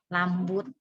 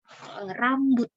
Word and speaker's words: rambut: Lambut, lusa gitu ya. Kita ajari terus rusa, bukan lusa tapi rusa. Rambut, bukan lambut gitu ya.